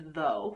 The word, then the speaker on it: though: I'm referring to though which of course has a silent GH at the end why don't you say gah and you need to be able to say those are silent letters and so we don't say them and you also need to be able to say and the OU in that word says o because it does and there's quite